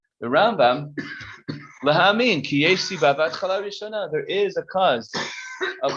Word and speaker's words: Rambam: So the way it's done is you put the emphasis on the first syllable. That's Maimonides, Rambam, and Ramban is Nachmanides. That's how you could remember it, that which syllable you emphasize.